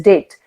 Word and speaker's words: debt: Which we actually pronounce, the right pronunciation is date. DEBT, date. B remains silent, but to make you people understand, this is, I'm talking about depth, DEBT actually.